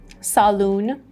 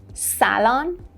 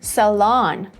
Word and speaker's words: salon: Number 9 is not saloon, it's not salon. No, the British pronunciation is salon, salon, and the American pronunciation is salon, salon.